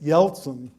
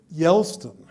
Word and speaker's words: Yeltsin: And what he wanted to know was, what do we do about Yeltsin? But he always pronounced it Yelston, like Elston Howard.